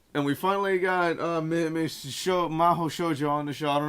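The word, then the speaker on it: Mahou Shoujo: It's not that hard to pronounce though. It's Miss Maho Shoujo.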